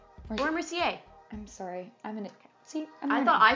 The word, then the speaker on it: Mercier: Mercier. Laura Mercier.